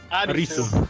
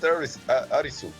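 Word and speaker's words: アリス: hard geny I know how do the Japanese pronounce it Alis arisu just call it arisu arisu and yeah the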